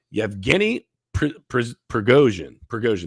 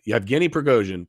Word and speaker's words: Yevgeny Prigozhin: Wagner chief Yevgeny Prigozhin, that's how you say it. Yeah, Yevgeny Prigozhin, presumed dead after Russia plane crash.